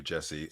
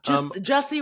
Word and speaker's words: Jussie: I'm happy for you, Jesse. Yeah. Jussie. I always want to say that man. His name is Jesse. Is it Jussie? Jussie rhymes with bussy.